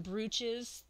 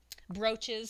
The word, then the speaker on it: brooch: really like the Victorian breeches that brooches sorry my mother keeps correcting me on that it's spelled BR oo CH but it's pronounced brooch so I've been making